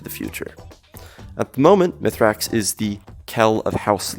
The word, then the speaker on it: Mithrax: they were forced to evacuate their entire planet mythrax which is pronounced me's racks in The Elixir tongue was born into the